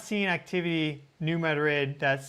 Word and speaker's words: New Madrid: So, and that's how the locals say it. Um so, don't get mad at me. That's I just go with cuz they get mad at me if I don't say New Madrid instead of New Madrid, so just whatever.